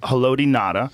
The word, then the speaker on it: Haloti Ngata: boy, say that name, Haloti Ngata. Haloti Ngata. Nada? You say Nada? I think it's You don't pronounce the G? You don't pronounce? Okay. The G is silent. Haloti Ngata.